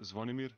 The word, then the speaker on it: Zvonimir: Pronounce just your first name. So my first name is Zvonimir.